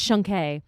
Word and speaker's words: Shunk: also, just so you know, my last name is pronounced Shunke.